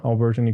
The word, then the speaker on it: Alberto: look up my name alberton and you should find a bunch of posts spell it for everyone okay alberto just like albert with an o at the end a-o-b-e-r-t-o and then my